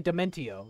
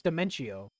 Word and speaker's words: Dimentio: I don't get how people say Dementio. It's Dimentio. The dimension pronunciation.